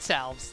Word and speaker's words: salve: Ooh, two heat salves. That's nice. Or salve. I don't think you pronounce the L in that word.